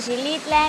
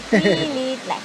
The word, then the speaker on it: Xilitla: Ya nos enseñaron que no se dice Xilitla, ni Xilitla, ni nada. Xilitla.